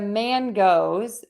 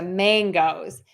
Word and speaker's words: mangoes: I would say the man goes as opposed to the mangoes I actually pronounce mangoes with that NG sound mangoes so the man